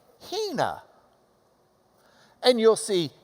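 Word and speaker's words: ἵνα: This has got a reverse comma in front, like an open mouth that goes, because it's the H sound. All right? So you would pronounce this, Hina. And you'll see Hina, Hina, Hina.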